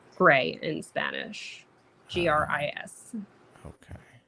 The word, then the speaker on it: Gris: Gris. Okay. So I don't actually think you're supposed to pronounce the S, but it's side scroller,